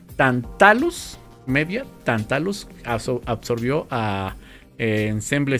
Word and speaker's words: Tantalus: por forken and Pain tantus creo que tantus absorbió eh Perdón tatus tat deja pronunciarlo bien porque está medio complicado tantalus media tantalus absorbió a